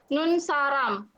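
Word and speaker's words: 눈사람: Ini bacanya nun saram.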